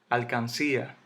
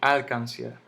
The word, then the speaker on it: alcancía: al le pongo sutil alcancía yo no digo al cáncer que no digo al cáncer yo no digo al cáncer yo digo alcancía entonces dónde está el